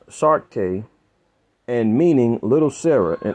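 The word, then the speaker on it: Saartjie: The most infamous medicalized display of a captive black befell Sirache, pronounced Sarke, and meaning Little Sarah in Afrikaans.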